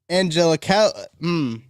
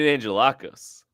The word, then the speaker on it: Angelakos: It's Brandon Angelakos. Angelakos is Angelakos. That's a sick name, actually, Brandon. I'm sorry I butchered it. What were you going with? So I was gonna say Angelino, and then I realized when I got to the K, that's not Angelino.